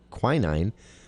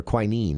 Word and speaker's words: quinine: chemical in tonic water called quinine, or quinine, I think is how it's pronounced, that it would repel mosquitoes.